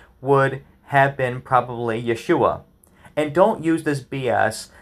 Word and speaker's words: Yeshua: was not pronounced as Jesus in English it's pronounced as Jesus but in Hebrew it was Yeshua in Greek it was yesus not Zeus this